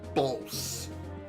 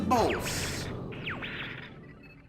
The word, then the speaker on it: Bolse: Time to head off to the next mission, which is Bolse. I think that's how you say it. I've always called it Bolse. It's B-O-L-S-E.